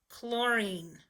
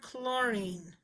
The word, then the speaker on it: chlorine: say chlorine here's chlorine CH digraph with the L so that digraph blend says cool pool oh you hear the long-haul sound floor now we say een